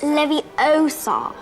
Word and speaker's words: Leviosa: someone's eye out besides you're saying it wrong it's leviosa besides means the same